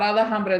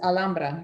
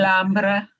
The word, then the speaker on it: Alhambra: Not Alhambra, this Alhambra, because the H is silent. Alhambra. Mhm. Oh, that's right. No H.